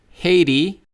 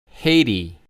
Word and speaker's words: Haiti: Actually, most Americans would probably pronounce a T more like an R or a D.